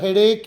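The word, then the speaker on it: headache: ಉದಾಹರಣೆಗಳನ್ನ ನೋಡೋಣ ಐ ಹ್ಾಡ್ ಹೆಡೇಕ್ yesterday ನನಗೆ ನಿನ್ನೆ ತಲೆನೋವು ಇತ್ತು ಸ್ಥಿತಿ ಅನುಭವ ಇದನ್ನು ಕೆಲವರೆಲ್ಲ ಹೆಡೇ ಅಂತಾರೆ ಹೆಡೇಜ್ ಅಲ್ಲ ಬರೆದಿರುದು ಹಾಗೆ ಅನ್ನಬಹುದು ಬಟ್ ಇದು ಉಚ್ಚಾರ ಹೆಡೇಕ್ವಿ ಹಾಡ್ ಬಿಗ್ ಹೌಸ್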